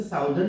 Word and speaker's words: Southern: आप इसे साउदर्न भी बोल सकते हो, मतलब प्रोनाउंसिएशन जस्ट उसका सदर्न होता है।